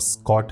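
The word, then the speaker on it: Schott: अब अगर मैं ग्लास की बात करूं यहां पे इन्होंने शॉर्ट ग्लास यूज करा है जिसको आप स्कॉट भी बोल सकते हो बट इट is pronounced as शॉर्ट glass तो जितना मैंने रिसर्च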